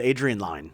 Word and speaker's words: Adrian Lyne: Well, I've been saying it wrong. I've always said Lynn as well. Yeah. But Adrian Lyne.